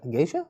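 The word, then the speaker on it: geisha: flights he's pictured with G gisha how the gisha yeah that's how you pronounce it enjoying unique dining coffee uh it's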